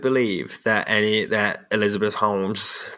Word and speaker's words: Holmes: to pronounce Sherlock Holmes I can pronounce it Holmes take the lell out if you don't want it to be a w Class Clown 4 is